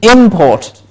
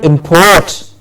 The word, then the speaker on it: import: these stress as well same way we have import means coming in import and to import yes the import of